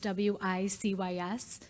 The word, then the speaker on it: WiCyS: We often go by our acronym WiCyS, W-I-C-Y-S, and it's pronounced WiCyS, like we sisters.